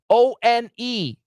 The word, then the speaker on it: one: mother Fu n Fun Fun same uh uh o n e One uh uh all the same that is